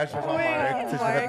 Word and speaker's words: Marc: C'est juste, j'ai vraiment fait un R à l'anglais, je fais genre Oui, Marc, tu sais, j'ai fait ouais.